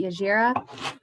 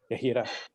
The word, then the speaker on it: Yahira: Is it Yajira? Yahira. Yahira.